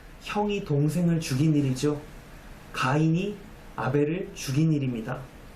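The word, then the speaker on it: הֶבֶל: 동생을 죽인 일이죠 가인이 아벨을 죽인 일입니다 그런데 우리가 아벨 아벨이라고 부르는이 이름의 본래 히브리어 발음이 바로 헤벨입니다 전도서에서 내내 이야기하는 헤벨 헛됨과 아벨이 철자가 똑같습니다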